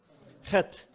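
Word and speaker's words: חית: 자, 그래서 하트인데 사실은 키역 발음에 가까워요. 히읗과 키역의 네, 중간 정도 이쯤 어디 돌고 있는데 이제 허다 허다는 거 허. 뭐가 나올 것 같아야 돼요. 허. 예, 입속에서 뭐가 나와야 돼요. 허. 허, 허, 헤트, 헤트. 그냥 헤트 하면 잘 못 알아들 수 있어요.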